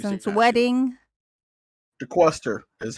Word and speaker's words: DeQuester: DeQuester is how.